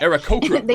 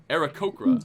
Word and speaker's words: Aarakocra: Aarakocra, right? I'm saying it wrong myself. Aarakocra.